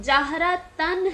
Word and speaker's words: جہرتن: فتح کی تنوین ہے۔ جہرتن کا تلفظ جہرتن ہے، مطلب نون کی آواز ہے لیکن نون کی شکل میں اسے لکھا نہیں جاتا، اسے تنوین کی شکل میں لکھا جاتا ہے۔ امید کرتی ہوں